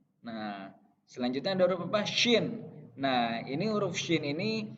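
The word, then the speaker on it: ش: Huruf shin itu selalu ditandai dengan ada titiknya 3. Jadi pelafalannya harus jelas. S-Y-I-N. Shin. Bibirnya, mulutnya yang bagian atas harus agak monyong gitu biar lebih jelas pelafalannya. Shin.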